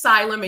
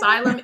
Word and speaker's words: Selym: Um it's it's Sylm and you said it perfectly Amber. Um but Sylm is my son's name Miles spelled backwards and um the reason that was very intentional.